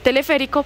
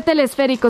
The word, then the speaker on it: teleférico: Y no se dice telesférico, se dice teleférico.